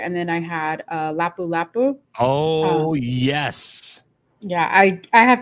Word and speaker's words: Lapu Lapu: You pronounce it correctly. You must have ordered this many times. Lapu Lapu.